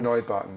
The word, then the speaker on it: Neubauten: Neubauten, yeah.